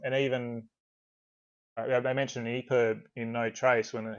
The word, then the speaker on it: EPUB: I need to specify no one calls it an eprib it's an Epub so you need to